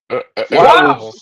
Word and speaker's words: Whiteville: Wobble. Hey, you ain't saying it right, son. It's wobble. It's wobble.